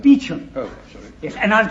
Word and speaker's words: Beauchamp: It's pronounced Beecham.